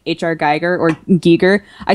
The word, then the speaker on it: Giger: I mean I know everybody calls him Geer but you should probably know it's actually pronounced Giger and I was like